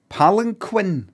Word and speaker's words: palanquin: A palanquin. Is that how you pronounce it?